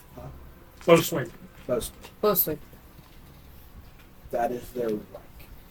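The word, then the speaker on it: boatswain: Boat swing. Huh? Boat swing. Bosun. Closely. That is their rank. Boat swing. Okay. Not Or you can, some people pronounce it boat swing.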